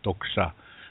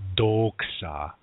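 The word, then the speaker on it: tókša: T and the D Daksha it's not dog sháá yeah it's talk shop it's like a light light sounding D really less little emphasis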